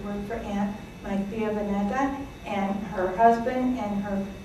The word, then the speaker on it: Beneta: My real name is Beneta. And in the Greek alphabet, the V looks like a B, but it's pronounced like a V, so it's a little bit confusing.